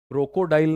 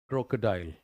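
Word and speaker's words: crocodile: अगला शब्द है क्रोकोडाइल, क्रोकोडाइल नहीं है। हमें बचपन में ऐसे ही पढ़ाया गया, क्रोकोडाइल, CRO, crow, CO, क्रोकोडाइल, so that the right pronunciation is what, that is क्रोकोडाइल, क्रोकोडाइल, क्रोकोडाइल, 3 बार बोलना कम से कम।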